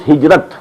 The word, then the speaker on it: hijrah: I said, at some time in my discussion that I'll explain the word hijrah also. Hijrah, which we in Urdu pronounce hijrat.